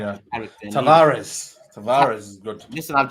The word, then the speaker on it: Tavares: Already Ramsdale, and I like Tavares. Tavares is good. Listen, I've just heard his name is pronounced Tavarez.